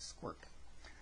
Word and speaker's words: sqrt: square root of x that's qrt and it's pronounced squirt okay and up here is the red graph